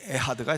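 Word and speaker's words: אחד: 이 에하드가 사실은 발음이 정확하게 말하면 에하드가 아니라 에하드. 약간 가래가 끓어야 돼요. 에하드.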